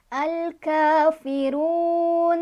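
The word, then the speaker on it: الكافرون: Cara bacanya dipanjangkan, boleh paling sedikit 2, paling banyak 6. Jadi boleh 2, boleh 4, boleh 6. Al-kafirun, kalau 2. Kalau 4, al-kafirun. Kalau 6, al-kafirun.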